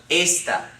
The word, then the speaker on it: esta: this is bouncing esta it has how many syllables two syllables okay this is the first syllable this is the second syllable okay there is no accent mark it ends in an a therefore the accent comes on the second to last syllable so it's pronounced ASA okay now there's another